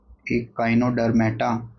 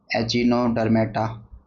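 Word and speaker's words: Echinodermata: अब हम बात कर लेते हैं इकाइनोडर्मेटा। कई बच्चे इसकी प्रोनाउंसिएशन गलत बोलते हैं बहुत ज़्यादा, एचिनोडर्मेटा। ठीक है, इतना भी नहीं होना चाहिए यार, इकाइनोडर्मेटा इसको बोलते हैं, क्या बोलते हैं, इकाइनोडर्मेटा, राइट।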